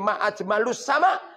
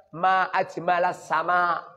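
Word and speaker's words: ما أجمل السماء: Kemudian Syekh Abul Aswad mengatakan, wahai anak putriku, kalau kamu menyanjung tentang keindahan langit, jangan ngomong muni ma'ajmalus sama, tapi bacanya ma'ajmalas sama.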